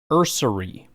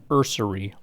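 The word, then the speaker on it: Ersery: Offensive tackle out of Minnesota is Ariante Ursary. There's an R in there, and it's Ariante, not Arianti. Ariante Ursary, offensive tackle, Minnesota.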